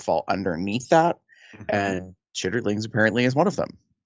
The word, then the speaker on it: chitterlings: as a child was it's chitterlings, but it's pronounced like for us chitlins.